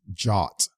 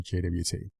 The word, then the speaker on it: JWT: little side note here jwt you may hear some people also refer to this as jot j-a-w-t as far as pronouncing it so it's up to you if you want to use jot or jwt it's an open standard